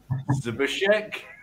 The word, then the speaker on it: Zbyszek: I'm going to add our next speaker in, and I'm going to go and try the Polish pronunciation here. Zbyszek? How yep, close very nice.